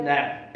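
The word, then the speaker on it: Knapp: Third one, जीएफ नैप। इसके अंदर के जो है वो साइलेंट है, के नहीं पढ़ा जाएगा।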